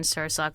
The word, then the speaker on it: Sursok: Yes, Tammin like salmon, Sursok like sir and the sock on your foot.